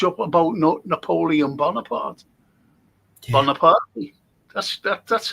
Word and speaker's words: Bonaparte: Bonaparte. That's how you pronounce his name, Bonaparte. Bonaparte. Because he was born in Corsica, which was a part of Italy at the time.